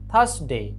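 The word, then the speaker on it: Thursday: Sunday, থার্সডে, এখানে থার্সডের এখানে আরটা সাইলেন্ট থাকবে, থার্সডে।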